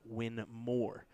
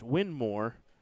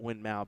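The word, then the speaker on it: Winmau: name first name and his last name was win more so it's actually supposed to be pronounced win more but a lot of people call it windmow because of the spelling so there's a truth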